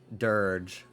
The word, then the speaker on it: Durge: Dur rhymes with with urge. Durge. Durge rhymes with urge.